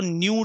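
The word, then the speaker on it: ν: मैंने आपको बताया था, इसको न्यू रीड किया जाता है। न्यू NEW होता है ना, न्यू वही वाला न्यू, लेकिन स्पेलिंग NEW नहीं है, इसकी NU होती है।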